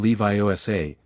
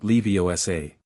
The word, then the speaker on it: Leviosa: And pronounced the words properly when guardian Leviioa, not leiosa. Harry's Latin fluency made the pronunciation easy. He focused on his feather, visualized it rising, and encanted. Wingardium leviosa.